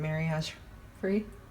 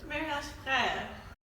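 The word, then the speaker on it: Mariage Frères: It is, I can't pronounce this brand, Mariage Free? Mariage Free? But it's Marco Polo. Mariage Frère.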